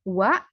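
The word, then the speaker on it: は: dari huruf Hiragana ya partikel wa ini ditulisnya H tapi dibacanya wa ya ingat ditulisnya ha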